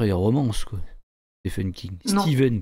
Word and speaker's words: Stephen: Steven King d'ailleurs, on devrait dire. Ouais. Ouais. Ouais. Si je le prononce à l'américaine.